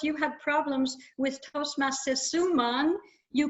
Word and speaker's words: Suman: You also, but were corrected in the meantime, how to pronounce Casesa. That's his name, Casesa. Toastmaster Alois, you had problems with Toastmaster Suman. You called her Sumaniara, which I know why, because you looked at